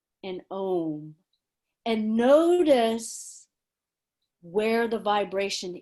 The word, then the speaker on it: Om: comes out that's why i wanted to make the clarity between aung and om can you see how different those words are ong and om and if i